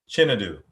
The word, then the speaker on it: Chinadu: Also new today here is Chinaidu or Chinadu. How should I pronounce it better? Chinadu. Chinadu, thank you so much.